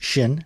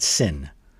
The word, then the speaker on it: 신: So it's pronounced shin not sin.